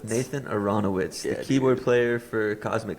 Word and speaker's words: Aronowitz: Aronowitz. Nathan Aranowitz, the keyboard player for Cosmic Country.